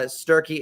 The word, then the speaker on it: Sturkey: just at sturkey uh sturkey is spelled like turkey if you had an S at the beginning and if you want